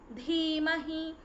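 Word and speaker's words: धीमहि: Bhargo, not Ba, Bhargo Devasya Dhimahi, it is Dhimahi, Dhiyo, Dhiyo Yonah, Yonah Prachodayat.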